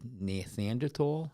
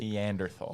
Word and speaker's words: Neanderthal: show the migration they also um intermingled with Nathaniel is that how you pronounce it Neanderthal yeah and we and we actually have certain